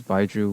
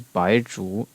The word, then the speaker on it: Baizhu: And then the last upcoming character is Baizhu, which in Cantonese is baksot. The Japanese is byakujutsu. And the Mandarin is Baizhu.